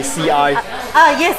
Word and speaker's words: 吃: And when southern people say, we don't pronounce, like for example, word 吃. 吃饭. We say CI.